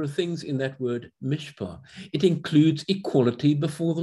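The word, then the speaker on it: מִשְׁפָּט: It's pronounced mishpah. The T at the end is not pronounced.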